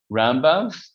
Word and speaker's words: Rambam: So the way it's done is you put the emphasis on the first syllable. That's Maimonides, Rambam, and Ramban is Nachmanides. That's how you could remember it, that which syllable you emphasize.